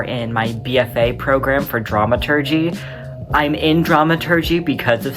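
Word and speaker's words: dramaturg: The correct pronunciation is dramatur, the researcher of the plays and operas being put on.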